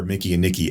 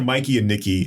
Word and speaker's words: Mikey and Nicky: Because these are Mickey and Nicky as lounge singers, or Mikey and Nicky. Goddamn movie name wrong. These are Mikey and Nicky as lounge singers, right?